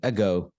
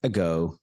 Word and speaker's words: ago: look at the word ago AG g o the sound of it goes like ago ago uh ago ago ago repeat